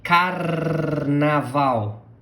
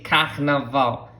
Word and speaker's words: carnaval: Now, attention, carnaval. Also, if you want to, you can say carnaval. Carnaval. But that sounds really strange to me, but anyway, I like the carnaval.